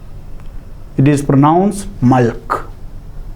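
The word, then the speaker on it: ܡܠܟܝ: See, malk. Malk, there is a yod. At the end there is a yod. But it is silent.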